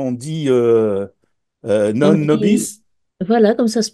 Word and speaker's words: Nobis: Alors on dit comment on dit non On dit, nobis, voilà, comme ça se prononce, comme ça se parfait, prononce.